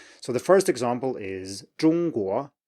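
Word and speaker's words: 中国: So the first example is 中国, 中国. So it's a flat 中国. Okay, say after me, 中国.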